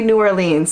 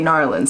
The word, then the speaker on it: New Orleans: in New Orleans and she told me that's how you pronounce it. She said, don't say New Orleans, say New Orleans.